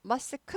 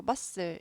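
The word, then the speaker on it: muscle: 하면 근육이죠 마스크가 모금이에요 머스크 하지 않고 머슬 얘는 아예 발음을 하지 말라고 사전에도 발음하지 말라고 나왔어요 발음을 했는데 안 들리는게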